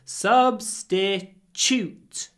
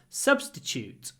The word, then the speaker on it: substitute: you can hear that when I say t t at the end I say CH because very often Tu is pronounced CH so substitute Chute substitute substitute it's a caffeine-free